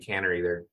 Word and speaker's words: Canary: And I was really fascinated with this idea that here was someone who was born Martha Jane Canary or Martha Jane Cannery. I've heard it pronounced both ways, but ultimately becomes famous as